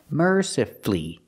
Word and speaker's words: mercifully: again mercifully you have two syllables before f l l y and the stress is on the first syllable so the U is silent you don't hear it mercifully not mercifully mercifully with